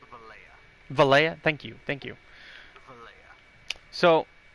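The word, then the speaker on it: Valencia: As you guys can see, we're here in Vala. I think that's how you say it. We're going from Vala to our home, which is all the way over here in Hydel. Actually, bro, it's Valleja.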